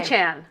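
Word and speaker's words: Achane: Achan.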